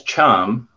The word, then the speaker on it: chum: i like that um i learned it as chum so that rhymes with thumb yeah yeah and the